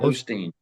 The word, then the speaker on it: Osteen: Is it Ostein or Odden? Ostein. Ostein.